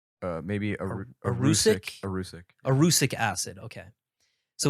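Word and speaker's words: erucic: So vegetable oil is actually high in, I don't know how to pronounce this, but it's Arucic. Maybe Arucic? Arucic.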